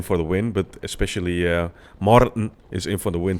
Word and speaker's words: Martin: Gotta say it like an American, man. Martin. Skip the T, skip the I, just go straight to the N.